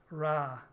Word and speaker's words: Rath: I would call it Rath, but the locals say Ra, with the Wicklow accent, Ra.